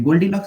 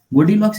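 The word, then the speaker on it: Goldilocks: अच्छा बताई है देखिए गोल्ड डीलक्स जोन जो है वो दरअसल को बोला जाता है कि गोल्डी लक जोन है जी मैं बताता हूं ठीक है साइलेंट कर लेंगे गोल्डीलॉक्स जोन है वैसे ग्रहों के आसपास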